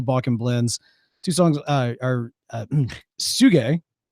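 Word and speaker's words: Tsuge: He says all the Monster series, specifically the non-aromatic from is it Tasung? Suge. Thank you. There's no way I was going to pronounce that.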